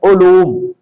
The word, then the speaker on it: علوم: زبر کے ساتھ، تو اس کا درست لفظ ہے علوم، عین پر پیش ہے اور لام پر بھی پیش ہے۔ عزیز طلباء اور شائقین